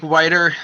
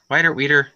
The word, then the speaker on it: Weeder: After that, Mike Whiter, I always say it wrong. Weeder.